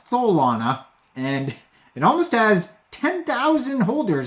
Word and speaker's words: Tholana: And I guess it is Mike Tyson pronouncing Solana, which is Tholana.